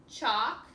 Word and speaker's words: chalk: Down here you have silent L's. Calf, chalk, and half.